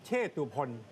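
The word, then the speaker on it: เชตุพน: นั่น แหละ ครับ อื เขา บอก ว่า ออก เสียง วัด เชษ นะ ครับ นี่ ก็ เป็น อีก ภาษา ไทย ภาษา หนึง ไม่ ใช่ วัด เช เหรอ ไม่ ใช่ วัด เช ครับ วัด เชษ วัด เชตุพล แต่ เรา เรียก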